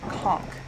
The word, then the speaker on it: conch: uh conses down here or conch I hate that PR pronunciation but apparently that is actually the way it's supposed to be pronounced I'm still going to